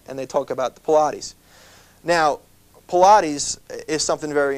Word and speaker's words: Pilates: it's spelled just in case you're interested and pronounced it's called pilates pilates has been around for many many years